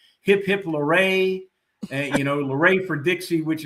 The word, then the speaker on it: Lauret: And so the T in my name is silent, so that's why it's Lauret. And I use little quippy things like hip hip Lauret, and Lauret for Dixie